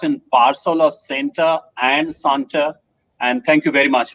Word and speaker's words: CENTA: let me tell you santa is not pronounced in my school as center it is pronounced as santa you see santa claus so you bring